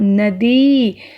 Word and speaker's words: नदी: इसी तरह से नदी, नदी नहीं होता, नदी। अगर हम बोलते हुए ही बड़ी ई का उच्चारण करेंगे द को, तो लिखने में भी हम द को बड़ी की मात्रा लगाएंगे।